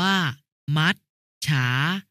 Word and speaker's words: มัจฉา: ปลด หมาย ถึง ตาย มัจฉา อ่าน ว่า มัชฉา หมาย ถึง ปลา ยงยุทธ